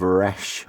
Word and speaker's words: resh: the hebrew letter of resh or rash you kind of you gotta almost roll your r in a very guttural way if i if i know correctly which i don't but there you go